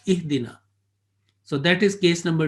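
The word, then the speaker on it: اهدنا: But mostly we will give a kasra and we start ihdina.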